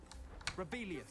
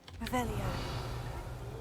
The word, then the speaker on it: Revelio: Rebellious. Saying it wrong. Revelio.